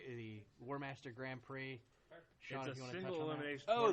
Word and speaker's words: Grand Prix: the B the warm Grand Prix a single elimination oh the x is silent I didn't know that